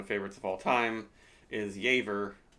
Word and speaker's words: Jever: of all time is yver looks like it's spelled jever that one you don't